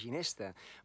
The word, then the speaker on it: ginesta: Ara digueu, la ginesta floreix, inici de càntic en el temple, Salvador Espriu. La ginesta, aquesta paraula l'hem feta maca, perquè pronunciem la G de ginesta, però el seu origen